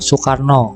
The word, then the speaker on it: Soekarno: tulisan sendiri itu seperti contoh Soekarno itu tulisannya saw knu Soekarno bacanya Tapi sekarang sudah berubah